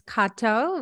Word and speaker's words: Cato: for the first time your name is Kato which I just uh discovered because I was pronouncing it in the Aussie accent like hey Kato so uh plateau and I